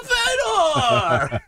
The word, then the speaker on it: Fedor: His name is Fedor. It's pronounced A Fedor!